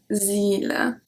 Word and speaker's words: île: Can you hear how I pronounce the E longer? Île. This is because when there's a letter with accent circonflexe, the little at, we have to pronounce it longer.